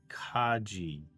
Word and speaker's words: Kaji: Um, my name is pronounced as Kaji. Oh, as in Japanese. Admiral Kaji.